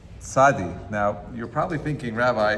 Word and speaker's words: Tzadi: But it is commonly referred to as Tzaddik. According to this pronunciation, may have developed from the blending of the names of the two Hebrew letters, Tzadi and Kuf.